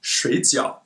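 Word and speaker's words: 水饺: means sleep but if we read it as shades yo it means dumplings what about this one reading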